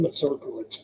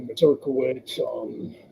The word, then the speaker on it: Mazurkiewicz: How the fuck do you pronounce his last name? Paul Mazurkiewicz from Cannibal Corpse.